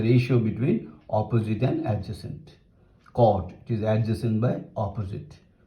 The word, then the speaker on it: cot: Cotangent, you say cot.